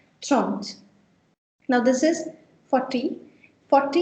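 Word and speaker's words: trente: Make sure you do pronounce, everyone, tront.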